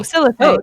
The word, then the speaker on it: Syllathei: Sorry, I keep getting that name wrong. Citrine. Like No, the it's a no, color. Brooke's mother. No. Sorry. Syllathei. Oh, Syllathei. Oh, yeah. Syllathei.